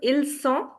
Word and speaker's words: ils ont: If you pronounce it as ils ont, it is verb être, which is they are. But, if you say ils ont, the z sound, because of liaison, linking the sounds.